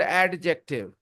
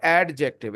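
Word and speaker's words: adjective: You heard the word एडजेक्टिव बट इट इज नॉट एडजेक्टिव इट इज़ एडजेक्टिव D silent D silent एडजेक्टिव सो एडजेक्टिव are words एडजेक्टिव्स are words the words tell something about a noun.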